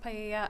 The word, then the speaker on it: paella: be used to cook paella, I'm not sure if that's how you pronounce it, at the party. It's pronounced paella.